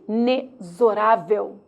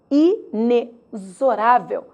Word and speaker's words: inexorável: curiosidade na palavra e inexorável inexorável a letra x tem som de z logo 10 letras 10